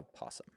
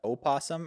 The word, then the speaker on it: opossum: Is it a opossum or a possum? An Opossum. That's how it's spelled. Like I Google An possum. OP? OPP. This guy should be looking this up right now. Opossum. You got it. OPOSS. That's how it's spelled? Well, that doesn't make any sense to me. I know. That's why I have such a problem Silent. with the English language. Silent O's at the front of words.